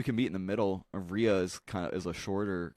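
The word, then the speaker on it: rhea: meet in the middle Ria's kind of is a shorter kind of ostrich what's it pronounced or how's it spelled r h e like R like rear Ripley I'll take you I'll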